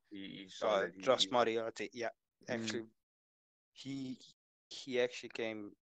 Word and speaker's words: Moriarty: Moriarty. Moriarty. Yeah, just Moriarty.